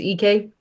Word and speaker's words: Ike: It looks like Ike to me every time, and I know I'm mispronouncing it. But 17 points per game. What? I think it's EK. EK, thank you, Graham EK.